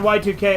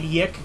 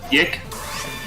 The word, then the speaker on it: YIIK: never heard of it sorry I mean Yik let me say it properly Yik yeah that's what it should be it's an RPG I